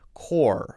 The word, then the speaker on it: core: If you use R, if you want to use R, your tongue never touches the roof of your mouth. Core, for example, C-O-R-E.